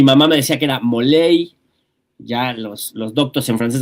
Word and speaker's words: Molay: Y pues ya, yo soy Moley más. Se escribe molay, se pronuncia moley.